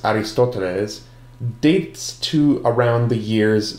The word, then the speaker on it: Ἀριστοτέλης: Aristotle, whose name in Greek is pronounced Aristoteles, dates to around the years 384 to 322 BC.